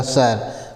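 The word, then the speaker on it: sir: अगला है यस आई आर, तो यस से स होता है ना, यस से स होता है, ठीक है, और आई है तो साइलेंट हो जाएगा, और आर है तो र हो जाएगा सर, और सर मीन्स होता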